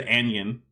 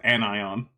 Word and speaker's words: anion: and he's like what the guy also had said anion instead of annion no anion pronounced it like it rhymed with onion all right what about